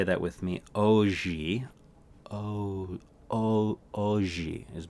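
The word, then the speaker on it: hoje: studied portuguese today the word for today is pronounced oh gee all right say that with me oh gee oh oh oh gee is more like it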